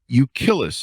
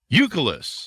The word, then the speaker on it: Euclid: They now live full-time in an RV, traveling the country with their golden retriever, Euclid. Is that pronounced right, Dan? Euclid.